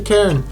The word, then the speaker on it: cairn: I thought it was called Cairn. Everyone's saying, "Oh, there's the cairn." I was like, "Cairn? What?" No, it's Cairn. It's pronounced C-A-I-R-N.